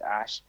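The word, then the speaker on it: Æ: Like it's going to be, or you said like what the AE thing is pronounced Ash.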